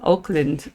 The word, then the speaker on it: Auckland: Just like they pronounce Auckland. Oakland. Oakuckland. Whereas if I look at it look like Auckland, but it's Oakuckland. Oakuckland.